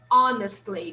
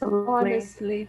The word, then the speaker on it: honestly: the age we say honestly we start here we start by saying letter o letter h is silent okay so let's say this honestly unless honestly honestly on this one